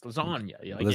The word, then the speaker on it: lasagna: a top G G but you don't actually pronounce the G it's lasagna you put it in